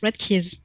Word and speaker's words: Redkeas: Is it Redkeas or Red? How do I pronounce that? Sorry. Well, you can pronounce it Redkeas, actually.